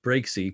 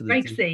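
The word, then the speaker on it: Breaksea: Island in Western Australia you do pronounce aak Breaky correct Breaky yeah and it's called Breaky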